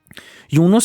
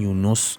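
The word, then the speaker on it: یونس: and darkness took over, "Younos andar dahān-e māhi shod" some pronounce it as "younes" however "younos" is the correct pronunciation.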